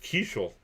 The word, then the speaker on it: Keuchel: Keichel, it is pronounced Keichel.